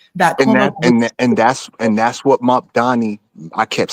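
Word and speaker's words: Mamdani: That And Cuomo that's what Mop Donnie. I kept saying Mom Donnie. I have a hard time pronouncing his name for some reason.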